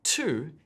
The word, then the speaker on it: two: So the T sound in 2 is spelled with a T, which makes sense. But then there's the vowel sound, oo, and this is spelled W-O.